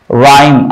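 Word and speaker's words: rhyme: को नहीं पढ़ा जाएगा राइम आर है सिर्फ र पढ़ा जाएगा ठीक है हम तो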